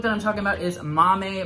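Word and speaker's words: Maame: I'm talking about is Mommy by Jessica George and yes that is how you say it because the description of how to say it like the phonetical spelling is in the Goodreads description speaking of which let's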